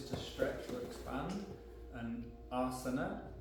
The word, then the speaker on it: asana: Uttan Asana. Uttan, ut means intense, tan is to stretch or expand, and asana, the stress is on the A, the first A.